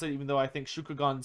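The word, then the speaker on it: Shugengan: magic whereas yin is moon magic uh the shuging gone which is probably the pronounced the correct way to pronounce it even though i think shukugan sounds more fun uh shugin gun uh which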